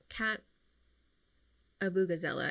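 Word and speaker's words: Kat Abughazaleh: Congress in Illinois, and, Kat Abugazela, I think is how you say their name, Palestinian, running for Congress.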